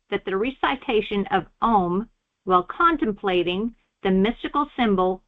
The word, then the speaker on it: Om: often spelled a u m. It is usually spoken almost under the breath and pronounced in the consciousness as well as in the mouth as the small silence at the end is is as important as the sound itself.